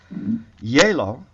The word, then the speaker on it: Gjeilo: to spell it because it is Norwegian hola o-l-a yellow spelled g j e i l o and I'm taking this